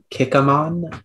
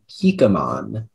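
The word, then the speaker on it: kikumon: information you may uh the word is kikimon also kikamon it is a noun from japanese it is a chrysanthemum flower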